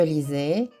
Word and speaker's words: lisais: Attention à la prononciation de la lettre S qui se prononce Z contenu qu'elle se trouve entre deux voyelles.